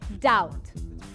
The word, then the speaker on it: doubt: que na língua inglesa não se pronuncia o b na palavra Doubt espero assim ter solucionado